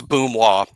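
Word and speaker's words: Mboumoua: It's Boomois. I do know that. Boomois. Boomois. Yeah, it's actually easier than it looks. Way easier. And I'm still going to say Mbamoa probably 37 times. But Boomois.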